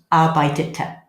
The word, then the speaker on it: arbeitete: So we had to do a bit of an addition. What do? We put in an extra E. Otherwise you'd have 2 T's coming together. So that's pronounced ich arbeitete.